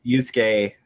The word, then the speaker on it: Yusuke: The U's are almost always silent. Okay. Yeah. Weird. So it's Yusuke Kato, and then what?